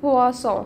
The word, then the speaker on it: boisson: زي سمك بواسون مشروب بواصون طب ايه الفرق بينهم؟ حرف البل في الاول حرف البل في الاول البي ده بيتنطق ب والبي دي بتنطق ب ب مش بطلع هوا فدي بقولها بواسون دي